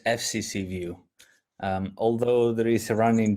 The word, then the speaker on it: FCCview: Well, it is FCC view.